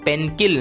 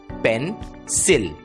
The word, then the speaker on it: pencil: दोस्तों, इस शब्द में भी C के सामने I ये अक्षर आया है और इसलिए C की आवाज क न रहकर स बन जाती है और शब्द का उच्चारण होता है पेनसिल, पेनकिल नहीं, पेनसिल।